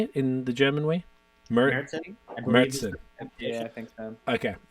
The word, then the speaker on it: Märzen: Märzen.